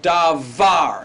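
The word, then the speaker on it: דבר: word davar all right davar here the V sound it's not the bar but D got it very good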